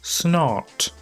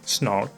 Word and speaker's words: snart: My favorite Swedish word is snart. So if you don't pronounce the R like Swedish people, it sounds like snot.